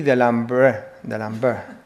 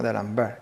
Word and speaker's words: D'Alembert: Messiaen y D'Alembert, ¿no? D'Alembert. La E creo que no se dice, ¿no?